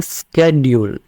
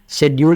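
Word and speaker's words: schedule: Changes आ चुके हैं, तो इसको बोलते हैं स्केड्यूल। जी हाँ, शेड्यूल की बजाय इसको स्केड्यूल बोला जाता है। तीसरी एक और प्रोनाउंसिएशन है जो यूएस में काफी ज्यादा फेमस है और इसको बोलते हैं हम स्केड्यूल, स्केड्यूल, ठीक है। तो ये अलग अलग 3 प्रोनाउंसिएशंस हैं, आपको तीनों में से कोई भी यूज करने की फ्रीडम है, आप यूज कर सकते हैं।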